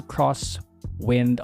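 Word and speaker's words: X-Wind: number six a Hamilton cross wind automatic chronograph yes it's pronounced as cross not X anyway oh I have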